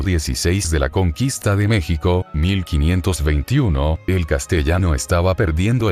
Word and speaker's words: México: En el siglo XVII ya nadie pronunciaba el SH en español, por eso es que en ese siglo ya todo mundo decía México, con el sonido de la J, dice Nadal.